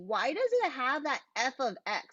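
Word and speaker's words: f(x): f of x um you pronounce it um f of x that's how you pronounce it if this was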